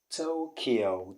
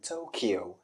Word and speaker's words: Tokyo: the pronunciation is in tokyo but is what tokyo tokyo tokyo not to tokyo i think this sounds more like a japanese tokyo tokyo okay let's go to